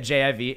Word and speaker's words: HJIV: We got JIV, HJIV. The H is silent. It's just Jiv.